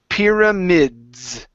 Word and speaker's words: pyramids: So here you're saying pyramids. Okay, so this is pyramids. Pyramids. Yeah, with the Z sound there.